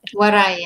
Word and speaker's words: Waray: Is it Waray? Am I saying it right? Waray, Waray.